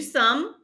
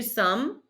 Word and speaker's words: sommes: Nous sommes. Don't pronounce the S on the end. Nous sommes.